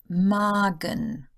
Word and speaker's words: Magen: The A sound is long, as in A, then it is followed by a single consonant that would belong to the next syllable if separated, like Magen. So the next syllable is the Gen, Magen.